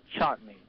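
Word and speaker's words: Chatigny: question uh he um his name is Robert chatney and it's spelled likey c h a t i gny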